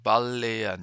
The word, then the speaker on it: Balleten: Balleten, attention, prononce pas le T.